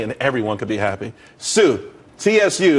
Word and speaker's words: TSU: everyone could be happy Sue TSU it's pronounced Sue though that's a that's